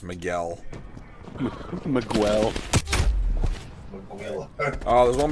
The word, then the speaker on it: Miguel: It's pronounced Miguel.